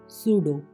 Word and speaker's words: pseudo: PSEUDO सूडो, myth. PNEUMATC pneumatics, वायु शस्त्र। PSYCHOLOGY spelling शुरू होंगे साइकोलॉजी यानी मनोविज्ञान।